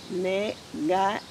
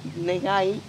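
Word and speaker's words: 願い: practice today is called negai. And one tricky thing about Japanese, when you pronounce the ga or g, hard g sound, you almost have to talk like you have a really bad cold.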